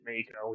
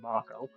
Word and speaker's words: Mako: In this game, I always think Mako, even though it's probably supposed to be pronounced Mako.